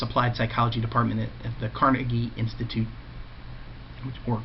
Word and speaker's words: Carnegie: Bingham establishes this applied psychology department at the Carnegie Institute, or Carnegie. I heard that pronunciation a lot.